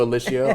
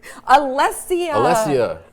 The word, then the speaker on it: Alessia: Thanks to Alicia, our wonderful production Oh, assistant. yes, of course you pronounced it wrong, though. Alessia.